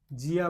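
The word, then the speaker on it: zia: ठीक है, उसके बाद में जेड आई प्लस ए, जी आ, जिया भाई इटली में आंटी को बोलते हैं, चाची को।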